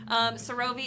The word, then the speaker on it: Sarovei: Sarovei is Sarovei.